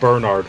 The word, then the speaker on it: Bernard: that's not how my name is prance it's pronounced Bernard but okay Bernard how do you say it Bernard that's not much of a difference it's it's